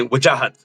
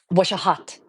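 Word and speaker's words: Wajahat: Uh, my the way you pronounce my first name is if you were my mother, you would say wahhat. It's like take imagine taking out like a katana blade. Waji wahhat.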